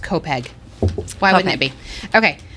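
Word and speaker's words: Copiague: defense how it's spelled c-o-p-i-a-g-u-e of course that's pronounced kopeg why wouldn't it be okay uh so in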